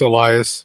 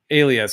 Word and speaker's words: Elias: pronounce his name is Elias yeah Elias Elias so Alias some people used to say Alias a lot Elias but yeah Maurice